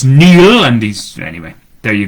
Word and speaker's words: Neil: of his name because people see it and say Niall, but of course it's Neil, and he's... Anyway, there you go. My brother-in-law, who is a Gaeilgeoir, an Irish speaker, disputed what Neil was saying about that.